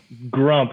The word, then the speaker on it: Grump: Did I pronounce that correctly? Grump. Yeah, Grump.